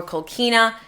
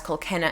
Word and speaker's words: Kolkena: linda broderick born linda kolkena or kolkina they pronounce it as kolkena in the series so that's the pronunciation